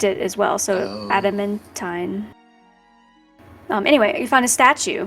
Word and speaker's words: adamantine: Adamantine. Adamantium. What's adamantine? Adamantine. Yeah, I was gonna say, it's not spelled like tium. There's no M at the end. There's no tium?